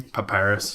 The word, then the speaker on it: Papyrus: Papyrus.